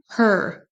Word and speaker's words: her: Donc là ici, on prononce bien le H en début de mot her. Et ensuite, on traîne sur le E. Et le R, on l'entend à peine.